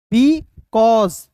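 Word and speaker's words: because: एन ई डी तो इसे पढ़ेंगे दोस्तों happened be कॉज बी ई को बी पढ़ेंगे और सी ए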